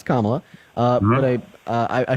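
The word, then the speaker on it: Kamala: um to vote for Camila you could say I don't know okay so first her name is pronounce kamla uh but I uh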